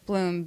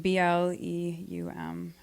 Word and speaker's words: Bleum: Bleum, Bleum.